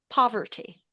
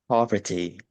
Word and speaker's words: poverty: Instead of saying po, uh, make sure that the O is not too It's not the O sound, but P. Poverty. Poverty. Yeah. Yeah. A bit more open instead of an O.